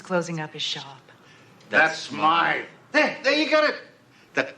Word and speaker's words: Smythe: Smith is closing up his shop. That's Smythe.